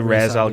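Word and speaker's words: Ra's: of Raz alul it's it's not R Al yes it is it's not I've had so many people say that to me as well it's supposed to be Raz it's not it's Raz Raz it is not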